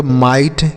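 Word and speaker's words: might: MIGST इसे हम पढ़ेंगे माइट, क्या पढ़ेंगे?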